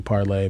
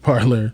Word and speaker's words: Parler: So now they're starting their own apps, you know, Parler, or it's supposed to be Parlay, but they pronounce it Parler.